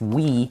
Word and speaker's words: Wii: be called Wii and it'll be pronounced we all over the world and it's going to